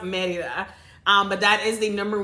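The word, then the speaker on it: Mérida: Like we would pronounce it Merida, but it's pronounced Merida.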